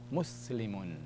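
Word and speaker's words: مسلمٌ: Mim dhamma is mu. Joined to the sin. Sakina. Sin sakina. You have a syllable here. Mus. Lam kasra li. Mus li. Mim tanwin dhamma mun. Muslimun. Muslim.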